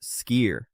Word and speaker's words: Skyr: Greek yogurt's close cousin that almost nobody is talking about, and that is Sky, Skyr, pronounced skier.